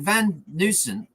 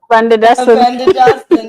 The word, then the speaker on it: Van der Dussen: I mean, Van Newson, sorry, I can never pronounce his name. You know what I mean? Van der Dussen.